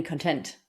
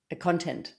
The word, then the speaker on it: content: So the leaders delivered conviction without any content. Content, not content. Same word, different pronunciation, completely shifts the meaning of the sentence, right?